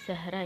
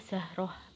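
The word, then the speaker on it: زهرة: antara Annisa dan Bahrain kalau dalam bahasa Indonesia biasanya manggilnya kita bajunya Zahra ya tapi di sini kalau karena kita dalam bahasa Arab kita bacanya zahroh gitu ya F itu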